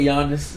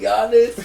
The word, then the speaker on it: Giannis: Giannis, bro. Bro, that's not my pick, bro. You picking Giannis? Giannis. You put Yanis. Bro, the G is silent.